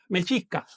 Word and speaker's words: mexica: Mexica, vamos a decirlo correctamente.